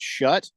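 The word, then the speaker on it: Shough: Now I see it and I got to pronounce it shut.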